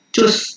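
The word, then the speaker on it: tschüss: Nah, kita bisa jawab kalau informal kita ngomongnya cus ya. Kayak CUS pelafalannya, cus, tapi tulisannya kayak gini, cus ya, ada umlaut namanya di sini, tanda titik 2.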